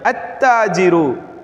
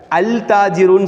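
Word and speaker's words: التاجر: அத்தாஜிரு அங்கே என்ன சொல்லலை? அல் தாஜிருன்னு சொல்லலை. அல் தாஜிருன்னு சொல்ல முடியாது.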